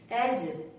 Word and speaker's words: edge: जी से पहले अगर डी आए तो हमेशा साइलेंट होता है। जैसे एज, EDGE, एज।